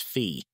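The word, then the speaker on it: phi: to the golden mean which is pH pronounced fee and which starts out as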